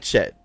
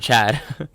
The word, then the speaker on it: Chet: I like Chet. I've said that many times. No, you're right. You said it right. I think I said Chad.